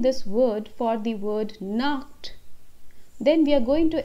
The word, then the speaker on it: Nacht: Nacht. Here we have to give a bit of a pronunciation of K. Yahan par humko thoda sa K karke bolna hai. Gute Nacht. Nacht.